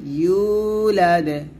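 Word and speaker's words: يُولَدْ: হবে এখানেও কলকলা হবে লাম ইয়ালিদে ওয়া লাম ইউলাদ এরকম আমরা এখানে বলি লামে লামে পড়ি অনেক কি লামে বলা যাবে না বলতে হবে লাম লাম ইয়ালিদে লাম ইয়ালিদে ওয়ালাম ইউলাদে ওয়ালাম ইউ ওয়াও পেশ ইউ এরকম ওয়ালাম ইউলাদে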